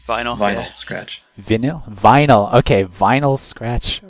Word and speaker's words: Vinyl Scratch: interesting from Midwest Brony just recently is his veny scratch Vector did I pronounce that right vinyl Vinyl Scratch viny vinyl okay Vinyl Scratch vctor and here